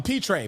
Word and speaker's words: Pitre: uh you got jayla i think it's peter is that how you pronounce it a petrae pitre petri uh so yeah yeah petrie thank you yeah um so j